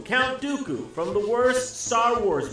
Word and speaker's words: Dooku: While Lee was portrayed in a number of memorable roles such as Saruman the White and the rhymes with Poo-Poo, Count Dooku from the worst Star